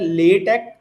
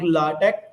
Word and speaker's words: LaTeX: Latex is pronounced at Latte or Latte because it technically sports the documentation with latex as there is word Microsoft word.